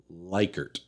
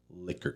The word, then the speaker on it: Likert: right off the bat it's pronounced liquor scale now you can win